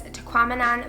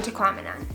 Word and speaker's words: Tahquamenon: The next thing we saw was Tahquamenon Falls. If you want an easy way to remember how to say this, it rhymes with phenomenon.